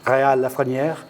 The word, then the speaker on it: Rheal Lafreniere: Rheal Lafreniere.